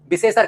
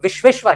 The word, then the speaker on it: विश्वेश्वर: किसी व्यक्ति का नाम होता है विश्वेश्वर तो हम उसे शुद्ध रूप में विश्वेश्वर नहीं कहते। विशेषर कह देते हैं। विशेषर आप लोगों ने भी कई बार गांव में नाम सुना होगा विशेष। तो विषेसर नहीं है। वो विश्वेश्वर है।